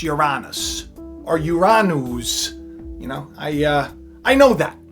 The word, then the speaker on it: Uranus: And Pilgrim's Progress put a comment up and was like, you're not going to talk about Uranus?